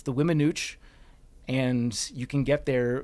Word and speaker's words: Weminuche: It's the Weminuche Wilderness in southwest Colorado.